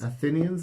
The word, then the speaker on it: Athenians: Athenians, is that how you say it?